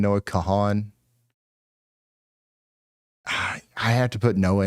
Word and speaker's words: Kahan: Noah Khan. Noah Kahan.